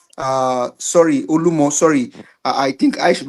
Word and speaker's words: Olumo: I probably follow the pronunciation of others, so it is Olumo, which is rock.